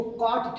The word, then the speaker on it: cot: इसको कॉट theta पढ़ते हैं, कॉट COT कॉट थीटा, है ना।